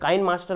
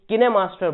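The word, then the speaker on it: KineMaster: जैसे काइन मास्टर हम बोलते हैं, लेकिन वो काइन मास्टर नहीं होता, जो कि मोबाइल में वीडियो एडिटिंग का सॉफ्टवेयर है, एप्लीकेशन है, उसको काइन मास्टर नहीं किने मास्टर बोलते हैं।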